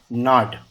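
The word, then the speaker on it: gnawed: द माइस, ये ना जो होता है ना, जी साइलेंट होता है इसमें, है ना, ऐसा होता है ना, और इसका सेकंड फॉर्म में ईडी लगता है, नाड।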